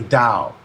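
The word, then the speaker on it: Tao: Dow the Chinese word the dow t AO pronounced Dow as in Gao jiong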